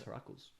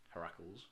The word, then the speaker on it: Heracles: Hercules isn't an actual name. It's Heracles. Heracles.